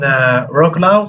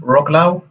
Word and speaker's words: Wrocław: So there are a number of GDEs in Poland, and there's even one in Wrocław. So is that how it's pronounced? Wrocław?